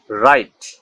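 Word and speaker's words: right: ওয়ার্ডে আই জি এইচ থাকলে এর উচ্চারণে জি উচ্চারিত হয় না, অর্থাৎ কোনো শব্দে বা কোনো ওয়ার্ডে যদি আই জি এইচ থাকে তাহলে এই জি উচ্চারিত হবে না, সেই অংশটুকুর উচ্চারণ হবে আই, সেই অংশটুকুর উচ্চারণ হবে আই। যেমন রাইট, রাইট মানে অধিকার, সাইট, সাইট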